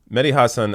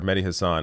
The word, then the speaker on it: Mehdi Hasan: to add to that Mehdi Hassan or Mehdi Hasan I've heard pronounced two different ways completely lays it out